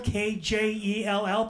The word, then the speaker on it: Kjell: My name is Kjell, Swedish. Kjell, K-J-E-L-L, pronounced Kjell.